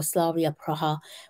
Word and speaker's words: Slavia Praha: Slavia Prague, or Slavia Praha, whichever way you choose to pronounce their name.